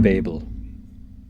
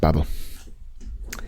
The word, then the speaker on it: Babel: called the library of Babel uh I I believe it's pronounced Babble no um it is